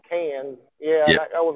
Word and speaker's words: Cairns: Jay, real deal from there, and I always pronounce it Carnes, but Cairns. he says Cans.